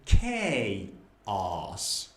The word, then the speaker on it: chaos: Maybe it's not che, maybe it's ke, so it's chaos. No, it is chaos.